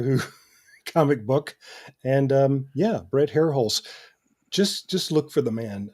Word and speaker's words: Herholz: comic book, and Brett Hairholz. Just look for the man on social media. That last name is spelled Herholz, and anyway, he's a buddy of mine, and he's drawn some.